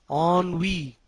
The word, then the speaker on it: ennui: E-N-N-U-I. Ennui means boredom, weariness, and dissatisfaction resulting from inactivity or lack of interest. Ennui. E-N-N-U-I. Pronunciation is ennui. Spelling is E-N-N-U-I. Pronunciation is ennui. It's a French word and it means boredom,